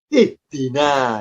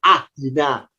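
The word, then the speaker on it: اهدنا: Kenapa kita terbiasa bacanya ihdina? Kok tidak ahdina? Kok tidak uhdina? Ya karena huruf ketiganya kasroh. Karena dalnya kasroh, alifnya ikut kasroh. Maka kalau diharokati, alifnya, harokatnya kasroh, berbunyi ihdi.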